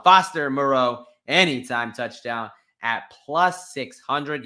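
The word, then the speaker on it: Moreau: doing that with Foster Monroe anytime Moro excuse me let me say his name right hold on Foster Moro anytime touchdown at plus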